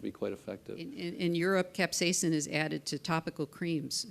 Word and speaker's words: capsaicin: And the one that I always like, but I can't pronounce it very well, Tony, is capsaicin, right?